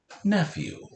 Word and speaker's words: nephew: you are their nephew nephew pause for a moment and analyze the word nephew ah nephew is a two-syllable word our first syllable is f and our second syllable is you nephew did you catch the